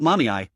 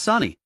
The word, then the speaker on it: Sani: It's not Mommy, it's Sani. How can you get both syllables wrong when there are only two?